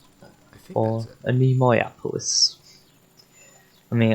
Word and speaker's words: Anemoiapolis: I mean, I personally pronounce it anemoia, but I don't know if that's just me. I suppose maybe it was more American to go Anemoiapolis. Or whatever it was called.